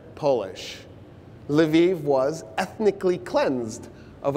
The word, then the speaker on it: Lviv: You've heard Lvov in the news lately. It's Lviv, because that's how the Ukrainians pronounce it.